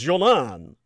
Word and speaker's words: Golan: and East Jerusalem, and the Golan Heights, correctly pronounced Jolan.